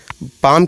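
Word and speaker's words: palm: Next body part है हथेली, हाथ की हथेली, जिसे इंग्लिश में पाम कहते हैं, इसमें L साइलेंट रहता है।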